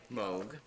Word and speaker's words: Moog: and then you want to know how it's pronounced right Moog Moog okay I was correct I've been saying Moog for while everybody's still like Moog and yeah